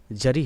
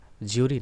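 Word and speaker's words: jury: इसका correct pronunciation जरी है, ज्यूरी नहीं है.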